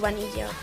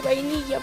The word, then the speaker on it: Vanilla: Siempre la he llamado Vanilla, porque es como se pronuncia en español, pero eso ya, la verdad es que me da igual, eso sí. Por favor, no la llaméis vainilla, porque mucha gente cuando